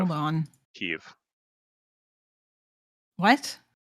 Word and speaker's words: Kyiv: It's All in right, Kiev. hold on. Kyiv. What? I'm not going to pronounce it the Russian way.